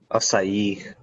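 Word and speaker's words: açaí: yeah acai eric please it took me so long to pronounce acai it's not even acai it is if you take french you know that anytime you put a tail on a c it's automatically an s all right moving on how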